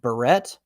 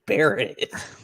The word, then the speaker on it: Barrett: and he's like is your last name pronounced barrette or beret i look straight at him stone cold and i'm like it's buried like how did you bungle